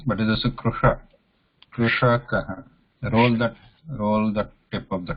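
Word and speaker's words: कृषकः: Is that a talusha? No, the murdhanya. Sha. Ksha. Sha. Krushakaha. Krishakaha.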